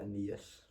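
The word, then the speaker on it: Aeneas: how do you say Arini's name was uh Anias.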